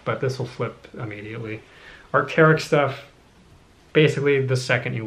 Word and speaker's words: Arc'teryx: This is pronounced either Arc'teryx or Arc'teryx. I've typically heard Arc'teryx, and that is the emblem.